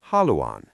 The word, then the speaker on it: haluan: This is haluan.